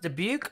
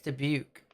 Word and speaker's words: Dubuque: the t in toronto is it pronounced dubuque or dubique de beak i think it's dubuque i don't know uh